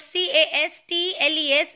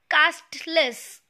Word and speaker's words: castles: Now this word castles is castles. It is not castless. Okay. The correct pronunciation of this word is castles.